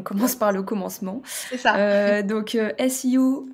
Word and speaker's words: SEO: par le commencement donc Siou donc c'est le sigle anglophone ça s'écrit SEO et ça veut dire